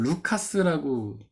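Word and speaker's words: Λουκᾶς: 이걸 루카스라고 보통 읽습니다. 루카스. 근데 이거는 헬라어예요.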